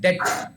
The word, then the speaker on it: debt: B is little silent. Depth. We pronounce as if it is DET.